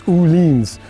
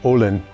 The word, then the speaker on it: Öhlins: Also, the electronic Öhlins suspension, if you want to pronounce it in German, it's Öhlins. All you American guys that always criticize me. Or in America, Olin.